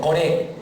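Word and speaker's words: Coré: ¿Core o Core? Core. Termina el acento en la E.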